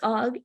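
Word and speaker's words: AWG: the camera but um this is how you say it so it's OG it's American wire um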